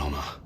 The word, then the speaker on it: honour: Although the H isn't pronounced, so English is hard. Honor. Honor. UK. Spelt with an H that is not pronounced and a U that is not pronounced.